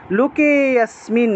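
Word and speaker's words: লোকেঽস্মিন্: তারপরে শ্রী ভগবান উবাচ, ভগবান, শ্রী ভগবান, ভগবান আছে উচ্চারণ হবে ভগবান উবাচ, লুকে অস্মিন, লুকে অস্মিন এই যে এখানেও লুকেতে গিয়ে টান দিতে হবে, লুকে অস্মিন, লুকে অস্মিন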